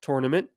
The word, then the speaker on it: tournament: how they pronounce tournament, which I say tournament, like a tour, as if you're giving someone a tour or you tour your ACL, right?